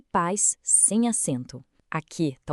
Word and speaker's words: paz: Por que país com acento e paz sem acento? Aqui está o poder dos conceitos que a gente viu. Em paz, temos um ditongo. Os sons ficam juntos numa sílaba só.